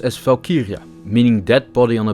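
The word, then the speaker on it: valkyrja: of War in Old Norse Valkyrie is pronounced as falkiria meaning dead body on a battlefield Chooser While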